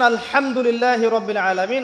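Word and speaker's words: الحمد لله رب العالمين: হা এর মাখরাজ কোথায় বলেন একজন? কণ্ঠনালীর মাঝখান থেকে। এখান থেকে আপনি উচ্চারণ করছেন আলহামদুলিল্লাহি রাব্বিল আলামিন।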